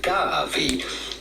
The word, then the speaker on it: Gavi: syllable gab and then the v in Italian is pronounced like a V not like in Spanish where it's pronounced like a b Gavi G if you want